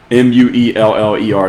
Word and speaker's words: Mueller: Mueller is how you pronounce his name. It sounds like Miller, but the Mueller Report.